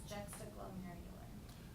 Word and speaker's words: juxtaglomerular: The pronunciation that I found was juxtaglomerular. Glomerular. Glomerular. That really adds a little extra tongue twist to it, but if that's what the dictionary says, then that's what we'll go for.